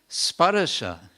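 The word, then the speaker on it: sparśa: It's been stretched out. This word has been stretched out with one additional syllable, just so that the meter will work, so that you'll have enough syllables to make the meter scan, as it's called.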